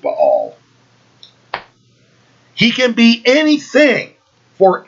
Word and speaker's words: Baal: You guys call him Baal. I pronounce it Baal.